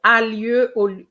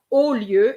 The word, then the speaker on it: au lieu: And you said a lieu instead of au lieu. AU, remember, AU always gives you the sound O, always.